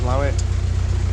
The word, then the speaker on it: Slaithwaite: But we're at Slaithwaite now, which is pronounced Slaithwaite, and I'm not sure if we've got another lock to do before we moor up.